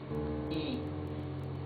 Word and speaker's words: y: So, when this is a word by itself, or when it is the last letter in a word, it is pronounced E. E. However, when it is followed by a vowel in the same word, like here, for example, look, this is yo. You see, it's a different sound.